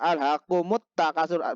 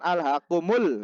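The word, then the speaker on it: أَلْهَاكُمُ التَّكَاثُرُ: Nah, apa dibacanya adalah alhaqumut takasur, bukan alhaqumul. Itu alhaqumut takasur, berarti ada alif lam bertemu ta.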